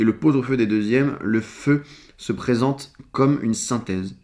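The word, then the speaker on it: phở: Le faux que l'on prononce feu.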